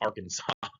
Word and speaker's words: Arkansas: The law says it has to be pronounced Arkansas. There was a big argument in Congress between Arkansas's two senators. One of them insisted on calling it Arkansas, and the other one insisted on calling it Arkansas. And Arkansas guy won and made it illegal to call it Arkansas.